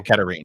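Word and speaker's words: Katerine: Or Katirin, is that how you pronounce that? Yeah, I don't actually. Katarine, maybe, or Katarine. Yeah, Katarine.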